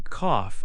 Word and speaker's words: cough: In cough, AW sounds like off.